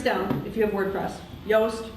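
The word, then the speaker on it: Yoast: if you have WordPress yast rhymes with toast but SP with a Y the have fields for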